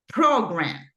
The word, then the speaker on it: program: It's program, right? In the first syllable, you have the stress.